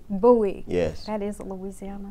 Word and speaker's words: Bowie: And tell me your last name before I mispronounce it. Bowie. Bowie.